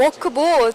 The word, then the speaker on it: Walkbot: 워크봇 잘못 들으면 이제 일하는 로봇으로 그거 맞나요? 예, 제가 네. 발음이 좀 안 좋아가지고. 워크, 맞아요. 이게 워크하고 워크 그쵸? 약간 네. 다른데 그래요.